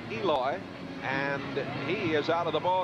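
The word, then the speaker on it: Elois: Grooms pronounces his first name Eloy, and he is out of the ballgame, and here's where it happened.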